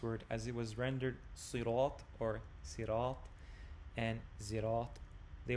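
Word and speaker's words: صراط: called Hafs and Asim, which tells you it's sirat. That is the actual pronunciation, the only way you can pronounce it.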